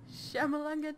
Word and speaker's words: Shyamalan: Say Shyamalan. The words, Shyamalan, like the letters, you say them in order. It's a pity that kids these days are all getting involved with blank. Shyamalanga ding dong.